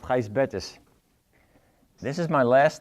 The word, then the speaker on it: Gijsbert: my whole first name it's pronounced heist betis this is my last